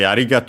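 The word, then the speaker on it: ありがとう: By the way, arigato on its own technically accent on the ri, even though you in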